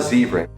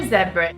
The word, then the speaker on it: zebra: I saw a zebra. I saw a zebra. Can you hear that? The Americans say ah, and the English people say it more like oh.